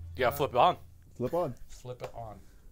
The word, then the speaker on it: Flipon: Flip it on. That's how you say it.